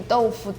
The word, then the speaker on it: 豆腐: 豆腐. One syllable?